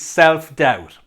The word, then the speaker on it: self-doubt: not good enough and be careful with the pronunciation here because the b is silent so we say self